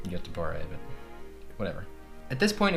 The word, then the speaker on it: Göteborg: It's actually pronounced Göteborg, but whatever.